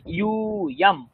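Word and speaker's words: যূয়ম্: উচ্চারণ দেখবেন, ইউয়াম, ইউ দীর্ঘ আছে, ইউয়াম ইউয়াম।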